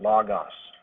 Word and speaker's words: logos: The word logos, some people pronounce it logos.